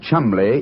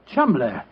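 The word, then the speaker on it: Cholmondeley: Being an American, he had no reason to know that the name Chumley is in no way pronounced the way it is spelled. Joe, I never thought of that. Chumley.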